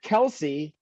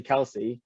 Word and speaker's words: Kelce: It is not Kelsey, it's Kels. Now, you'd think that by now he would know how to pronounce his name correctly. It's obviously Kelsey.